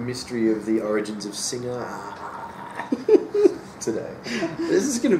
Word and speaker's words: Singha: fourth run which is seer would be pronounced that singer I'm see which is